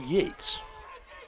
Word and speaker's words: Yates: I believe it's Michael Yates it is a one-syllable name it's 52 in the